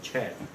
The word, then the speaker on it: Chan: So when you see the word CHAN, mean the Chinese pronunciation means chan. So now, but just for the sake of like the American pronunciation, so we say chan, okay, but in Chinese chan.